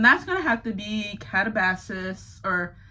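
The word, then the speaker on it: Katabasis: gonna have to be Catabasis or Catabasis. There's so many ways I've heard it pronounced. I think it's Catabasis, but I've been calling it Catabasis. I like that sound better, but whatever.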